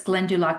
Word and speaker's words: Glendalough: You're going to go to the monastery ruins and they are called Glendalough. It doesn't look like that's how it's spelled, but it's Glendalough, and it's a very